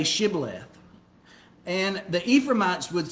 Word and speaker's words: Shibboleth: And they would say Shibboleth. And the Ephraimites would say Sibboleth. Okay, they couldn't pronounce it right. They could not pronounce that sh sound.